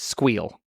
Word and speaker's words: SQL: By the way, pronounce SQL versus SQL. It's squeal. Squeal? You squeal. Squeal. That's what I think is the correct way.